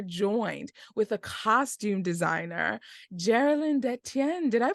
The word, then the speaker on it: Jaralin Detienne: today we are joined with a costume designer Geralyn de Tien did I pronounce that correctly you did yeah good for